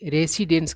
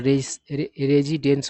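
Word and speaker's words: residence: है रेजिडेंस है ना बहुत लोग रेसिडेंस कहते हैं जो कि गलत उच्चारण होता है सही उच्चारण क्या होता है रेजिडेंट होता है है ना और रेजिडेंस होता है रेसिडेंस नहीं ठीक है बात तो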